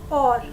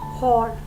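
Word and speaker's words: hour: We pronounce it as or, not hor. So H is silent over here and we are considering the vowel sound over here.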